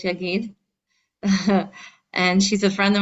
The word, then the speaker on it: Yagod: We have our dear friend tonight, Frimet, Yagid, spelled with an O, but really it's Yagid.